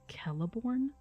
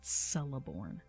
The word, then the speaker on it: Celeborn: being like hey um it's keleborn not celeborn just just putting it